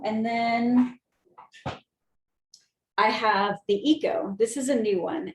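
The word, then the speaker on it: eKO: then i have the eco this is a new one it's it's pronounced eco but it's spelled e k o um and i like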